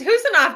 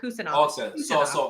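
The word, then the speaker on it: Khusanov: You don't pronounce the K. It's just Husanov, not Kusanov.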